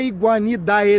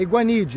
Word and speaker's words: Iguanidae: Não é iguanidae, não. Não é iguanidae, é iguanide. Assim, é meio iguanide, quase morrendo no final que se pronuncia.